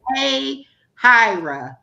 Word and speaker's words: Hahira: live in Hahira, and it looks like spelled like Hahira. And no, Hmm. but anytime I have to tell somebody over the phone, I spell it and they still can't get it. I'm like, Right. hey, Hira, like, two words, but it's one word, hey, Hira, no, hey, hi.